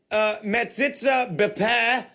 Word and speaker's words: metzitzah b'peh: Cases reported since September from metzitzah bepeh infants.